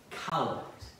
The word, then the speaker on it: Collect: And that prayer is called the Collect, or it's spelled like collect.